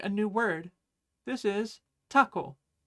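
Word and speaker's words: たこ: This is taco. It's pronounced almost exactly like the word taco in English, or I guess Spanish?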